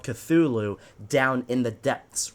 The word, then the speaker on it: Cthulhu: The Little Cthulhu. That is how you pronounce it.